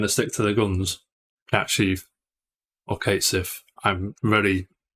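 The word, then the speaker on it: Cait Sith: It's Kate Sif, but the actual pronunciation is Cat Sheaf. I believe it's Gaelic, right?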